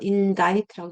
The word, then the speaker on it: indict: C가 묵음이죠. indict라고 indict가 아니고 indict C 묵음.